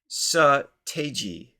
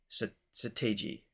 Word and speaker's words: Seo Taiji: Sa rhymes with duh. So that's a good start. Sa. Te rhymes with day. G sounds like the letter G. So Seo Taiji. Seo Taiji.